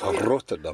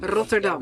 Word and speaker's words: Rotterdam: And it's Rotterdam. Rotterdam. You got to roll your R's.